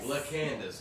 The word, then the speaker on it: LaCandace: LaCandace.